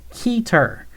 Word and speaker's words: Keter: Give me one reason why it should be pronounced keeter. Because keeter, Euclid eater, SC caught her, couldn't keep her.